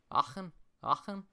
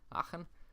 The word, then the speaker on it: Aachen: Aachen. I tried to like pronunciate the A. Aachen.